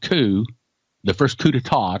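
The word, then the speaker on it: coup d'état: And I'm saying tonight that Saturday, 6/6/2020, the anniversary of D-Day, was the first coup d'etat, to say it correctly, in America.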